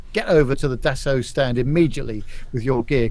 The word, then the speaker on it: Dassault: a Carlos pay attention this is a deso not Dassault or any other pronunciation adesso Falcon 8x which